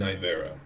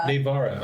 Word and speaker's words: Nivera: This is Sven, Anton, and Nivera. We are I say it wrong. What is it? How do I say it? What is it? Navara. Navara.